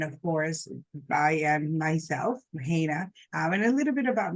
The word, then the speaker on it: Heinna: hello hello hello everyone uh my name is Hana um of course um coming in just want